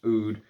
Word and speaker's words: oud: think this whole line the oud the AUD as he writes it but it's supposed to be pronounced oud uh musk oud and